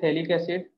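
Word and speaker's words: phthalic acid: ये थोड़ा सा फेमस कंपाउंड है, इसको बोलते हैं थैलिक एसिड। ये साइलेंट रहता है और इसको बोलते हैं थैलामाइड, थैलीमाइड मतलब थैलीमाइड, ठीक है ना।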